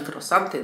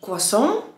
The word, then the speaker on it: croissant: No a po angielsku powiesz albo croissant, albo croissant. Czy dasz akcent w połowie wyrazu, czy dasz akcent na jego początku? No nie ma tam na końcu T, to nie jest taki croissant, jak my to po polsku mówimy.